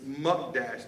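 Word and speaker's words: mukdash: in Hebrew ish m-u-k-d-a-s-h I'm pronouncing it wrong just so you all know it's muck Dash that word devoted and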